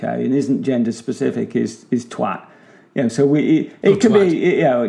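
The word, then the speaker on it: toit: But actually, twat also exists in French. Olivier, if you do an English pronunciation of roof, T-O-I-T, twat, it's a twat.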